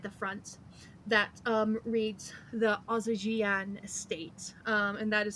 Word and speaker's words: Ozijiane: There is a little engraved copper sign outside the front that reads the Ozijian Estate, and that is spelled Ozijiane.